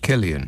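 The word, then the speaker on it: Cillian: you don't mind yeah to um Bond um klian is that how you pronounce it Killian it is indeed and I completely agree with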